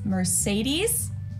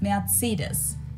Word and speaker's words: Mercedes: in Germany um so most Americans call this Mercedes in German we pronounce it Mercedes so Mercedes versus Mercedes merus matus so it's